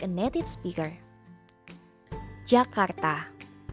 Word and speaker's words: Jakarta: So, today we will learn how to pronounce Jakarta like a native speaker. Jakarta. Jakarta.